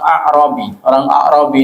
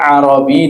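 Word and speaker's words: أعرابي: Jadi pada suatu hari orang A'rabi itu apa? Orang Badui, ya. Beda antara Arabi dengan A'rabi. Kalau Arabi itu namanya orang Arab. Tapi kalau A'rabi, roknya ada alif, ya. Kita bacanya A'rabi, itu orang Badui, ya.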